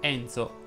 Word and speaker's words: Enzo: con la è chiusa vincenzo enzo lorenzo chiedono invece la è aperta giorgio si pronuncia con